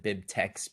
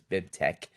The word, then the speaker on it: BibTeX: in the chat bibtex you'll want to pronounce it bib text but you have to do the dumb latex thing so it's bib tech if you look at